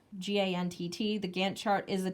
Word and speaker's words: Gantt: book talked about the I think is pronounced the Gantt chart GaN TT the Gantt chart is